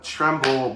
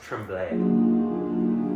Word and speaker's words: Tremblay: Next we have Tremble by Molly. It's actually pronounced tremblay. French, remember?